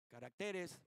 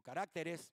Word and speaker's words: caracteres: Muchos tenemos diferentes temperamentos o diferentes caracteres o cómo se pronuncia, caracteres o carácteres, perdón, carácteres.